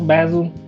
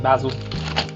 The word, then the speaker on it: basil: what you're thinking basil basil it just depends on where you're from how you pronounce it usually it's like uk you'll hear like basil over here you hear basil i don't know